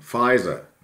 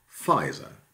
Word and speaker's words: Pfizer: a baker and then spelling pronunciation of course in the english-speaking world pfizer well fries and this is where